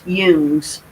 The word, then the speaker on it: Jung: theories incorporate a great deal of carl jung's pronounced hughes work with the human psyche and collective unconscious